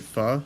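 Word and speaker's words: pho: I love how my parents still do like the very white thing of saying foe when I'm like, "No, that's that is not how you say it."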